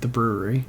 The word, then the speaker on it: The Bruery: play on words because it still is pronounced the brewery but has his last name in it so well done well